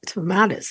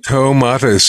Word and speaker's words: Tomatis: colleagues or teachers is Dr Alfred Tomatoes is that how we say his name tomatis indeed I'm one of the